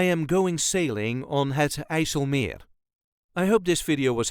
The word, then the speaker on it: IJsselmeer: This is the way us Dutchies say Het IJsselmeer, IJsselmeer. There is a light emphasis on meer. IJsselmeer. All the letters will be pronounced. No rolling R is needed. If you're having trouble with it, you can leave that rolling R out and just say Het IJsselmeer.